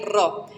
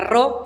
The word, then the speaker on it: ro: Se tienden a confundirse mucho de pronunciar la ro como una P. La ro, la que parece una P, es una R.